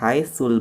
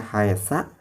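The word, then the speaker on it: حيث: Jadi dibacanya harus tetap haitsu. Jangan dibaca haitsa, jangan dibaca haitsi. Meskipun pada kenyataannya lafad haitsu ini dijerkan oleh harf jar, yaitu min. Tapi tidak boleh dibaca min haitsi.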